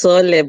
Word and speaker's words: Soole: First off, tell me, is my pronunciation of this correct? Am I butchering the name? It's Soole, but yeah, you can call it anything. Soole.